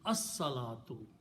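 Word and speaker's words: الصلاة: And swad is a shamsi letter, so it will kill the sound of lam. It becomes as-salatu. As-salatu means the prayer.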